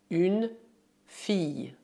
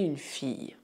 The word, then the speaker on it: fille: Sobre a pronúncia, assim como para a palavra famille, é preciso imaginar que o duplo L é Y, o que dá une fille.